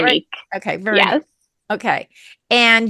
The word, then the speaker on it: Veronique: Veronique.